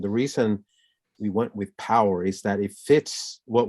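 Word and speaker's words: Powur: i decided to go with a company called power it's spelled p-o-w-u-r and and it's it has a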